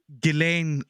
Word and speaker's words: Ghislaine: I'll bring out a deep cut with the recent news of Ghislaine Maxwell. You pronounced that really beautifully, and I hated you for Ghislaine.